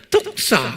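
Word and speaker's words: δόξα: 이게 헬라 말은 똑사 그래요.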